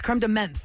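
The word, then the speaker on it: crème de menthe: not cream to Mint you're saying mint to Min it's creme de menth n t h e is how it's spelled on the bottle menth the mint cuz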